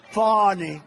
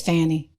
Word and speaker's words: Fani: It's spelled Fanny like your ass, right, Fanny? But when she became DA, she decided to add a little French, a little fancy. Fani. It's Fanny.